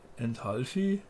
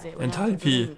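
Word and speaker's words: Enthalpie: Pi, nicht Vieh. Enthalpi.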